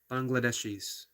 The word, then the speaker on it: Bangladeshis: Bangladeshis, um, called the Liberation War of Bangladesh.